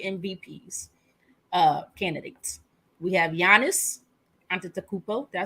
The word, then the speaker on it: Antetokounmpo: We have Giannis Antetokounmpo. Did I say it right? Antetokounmpo, something like that.